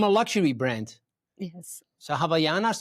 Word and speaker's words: Havaianas: Javianas. Actually, it's pronounced Havaianas.